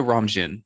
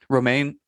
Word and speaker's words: Romijn: Rebecca Romijn. Is that how you say her name? Romaine.